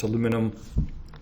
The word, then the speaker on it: aluminum: Aluminium, Century Aluminium, depending on your pronunciation, we're aluminium in Scotland. I know in the US it's aluminum.